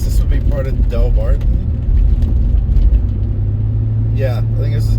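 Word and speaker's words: Delbarton: would be part of del barton yeah i think this is del barton so as they pronounce it here dale barton how big is this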